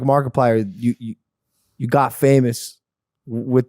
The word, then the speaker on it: Markiplier: people like like like Markiplier you you got famous with this brand mark because I didn't know how to pronounce it for the longest time I thought it was like Mark I pliers yeah markers Mark Player